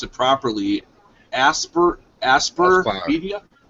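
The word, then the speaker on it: Aspyr: to pronounce it properly asper aspir media Aspire okay Aspire like aspiring Aspire media is the developer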